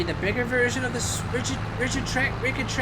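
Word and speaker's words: Rigitrac: bigger version of this rigid track. How do you even pronounce its name? R-I-G-I-T-R-A-C. Rigid track, probably.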